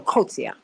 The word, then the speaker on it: Coetzee: Coetzee. I hope I'm pronouncing her name correctly. I don't think that I am. Oh no, Coetzee. That's how they would pronounce it there.